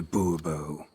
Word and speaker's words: Bourbon: bombo fine monsieur de bourbon the emphasis falls on the last syllable bobo see now i'd